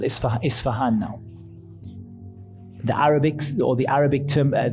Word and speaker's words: Isfahan: as it's called is Isfahan now the Arabic or the Arabic term the Arabic pronunciation of the city is asbah and there are Jews